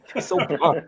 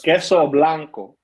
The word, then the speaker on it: Queso Blanco: Queso Blanca. I love it. That's Queso Blanco.